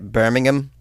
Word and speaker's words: Birmingham: Did I say that right? Birmingham? I don't think you pronounced the ham there. A statement from Liquid Death's